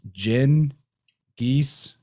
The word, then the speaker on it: Genghis Khan: know this guy that we call genghis khan really it said pronounced jin geese jingas dis genghis khan